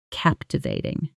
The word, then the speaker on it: captivating: And that quiet feeling of being completely pulled into the moment, unable to look away, that's captivating. Shadow it. Captivating. Captivating. Stress on the first syllable.